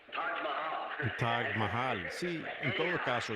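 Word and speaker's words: Taj Mahal: Billy Paul, ¿cómo se pronuncia eso? Hotel Tag Mayal. Tag Mahal, sí, en todo caso.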